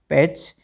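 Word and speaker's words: patch: तो टीसीएच में T silent रखना। ठीक है? पी ए टी सी एच पैच एल ए टी सी एच लेच और एस एन ए टी सी एच स्नेच इसका meaning होता है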